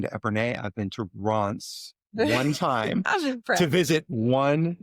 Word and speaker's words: Reims: And then, so we went to both, I'm going to say this wrong, but I want you to correct me, Reims, which is how I pronounce it.